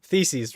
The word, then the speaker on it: theses: Theses. Theses rhymes with feces.